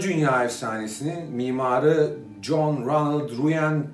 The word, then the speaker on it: Reuel: John Ronald Reuel Tolkien. Oxford sözlüğüne göre okunuş bu.